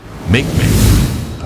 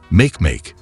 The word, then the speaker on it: Makemake: Makemake, pronounced M-A-K-M-A-K, was first spotted in